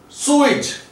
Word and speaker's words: sewage: And this word is sewage, sewage, sewage, AGE. Now these three letters, this suffix is giving us the sound ij.